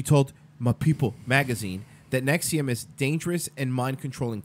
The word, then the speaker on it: NXIVM: 56 has become the face of opposition to nexium pronounced at nexium as a virtually the only parent